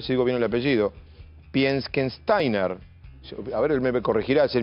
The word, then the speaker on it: Pieckenstainer: voy a ver si digo bien el apellido piensen steiner a ver me corregirá el ministro de salud